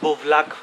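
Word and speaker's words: Buvljak: इस मार्केट का सही प्रोनाउंसिएशन है बुवलाक, बुवलाक मार्केट, जे साइलेंट एक्चुअली, लेकिन बंद हो चुकी है।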